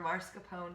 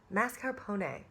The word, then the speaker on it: mascarpone: whole entire life and there is no r at the beginning of the word before the S the r goes at the end of the word before the P so it is not